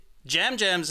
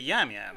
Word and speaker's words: Jam Jam: But he did say Jam Jam's name wrong. He said it Yam Yam. Yeah, did it? Yeah, at one point. I was confused because it is, said or spells Yam Yam on your screen.